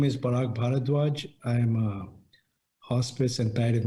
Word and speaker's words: Parag Bharadway: My name is Parag Bharadway.